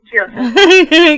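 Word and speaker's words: Jiosa: Nestor Torres, and 4-time Grammy nominated guitarist Denny, and is it Jehoza? Or Jehoza? Jehoza.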